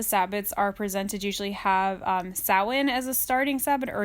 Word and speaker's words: Samhain: Yeah, some people call it Samhain if they've never heard anyone else say it before. That's just kind of how it reads in any book. Exactly. But it is pronounced Samhain.